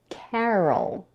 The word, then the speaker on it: Carol: in the second syllable R which is unstressed and because it's un stress the vowel is reduced to awah the schah is the most relaxed vowel in English it sounds like uh nice and short the lips are slightly open and the tongue is super relaxed uh and at the end we have the dark L see how the schw